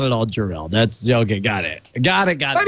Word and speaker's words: Jor-El: This one comes in Jor-El.